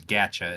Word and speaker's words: gacha: c h it's an actual genre of games gacha is Art how it's pronounced that art style right off the bat